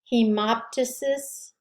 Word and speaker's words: hemoptysis: nia tysis that's spitting again the p is not really pronounced it can be dyspnea or um i don't know hemoptysis that's spitting up of